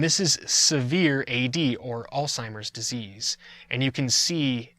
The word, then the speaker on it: Alzheimer's: its onset alzheimer disease i've heard people mispronounce this they say old-timers it's alzheimer's and it's named after